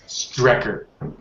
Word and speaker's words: Strecker: strike a tracker record it's pronounced strecker learn to read i mean i know